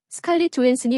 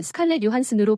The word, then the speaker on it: Johansson: 스칼렛 조한슨이 원래 발음인데 한국에서는 스칼렛 요한슨으로 불려서 어색하다. 이렇게 이름을 부르는 이유는 스칼렛의 아버지가 덴마크인으로 미국과 이중국적을 가지고 있지만 미국인 정체성을 가지고 미국식 영어를 사용하므로 스칼렛 조한슨으로 발음을 해야 하기 때문이다.